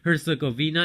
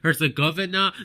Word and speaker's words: Herzegovina: some people pronounce that herzegovina and some people pronounce that hurts the governor then we saw the